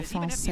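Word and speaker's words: Français: You just don't pronounce the S, so Francais.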